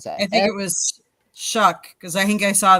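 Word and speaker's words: Shough: I think it was shuck because I think I saw the pronunciation. It was like shock. It's sh hu ck is how it's how it's pronounced.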